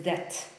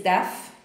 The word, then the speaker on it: debt: Tam jest b, ale tego b nie wymawiamy. Tak jakby go w ogóle nie było. Czyli to jest debt. Tam też nie ma th, czyli to nie jest death, albo f, death, tam